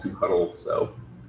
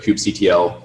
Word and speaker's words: kubectl: There's a lot of debate about how you pronounce that. The author calls it kubectl, but kubectl.